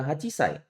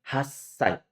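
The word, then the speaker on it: はっさい: Kemudian usia 8 tahun itu bukan hachi, 8 hachi, tapi bukan hachisai. Tapi hasai. Sama seperti angka 1 ya, ada tsu kecil di sini, hasai.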